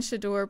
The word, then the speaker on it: Shedeur: We're going to be covering Deion Sanders saying his son, I learned how to pronounce this and then I forgot. Can you enlighten Shedeur.